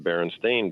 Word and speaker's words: Berenstain: I uh being called Berenstein spelled s-t-e-i-n that's right and but if you Google it now everything is spelled s-t-a-i-n and it's pronounced Berenstain Bears glitch glitch that